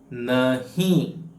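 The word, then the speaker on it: नहीं: ಬರೆಯಬಹುದು ಇಂಗ್ಲಿಷ್ನಲ್ಲಿ ಸರಿನಾ ನಹಿ ನಹಿ ಈ ಎನ್ ಅಕ್ಷರವನ್ನು ಮೂಗಿನ ಸಹಾಯದಿಂದ ಉಚ್ಚಾರ ಮಾಡಬೇಕು ಆಯ್ತಾ ಈಗ ನಾವು ದಿನನಿತ್ಯ ನಾಲ್ಕು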